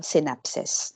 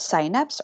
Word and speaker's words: synapse: So, last topic, so we have signal transmission of synapses. No? It could be pronounced as synapse or synapse, so depende sa inyo.